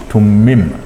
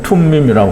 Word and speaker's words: 툼밈: 먼저 중요한 것은 우림과 둠밈인데요. 둠밈. 이제 정확하게는 툼밈이라고 하는데요.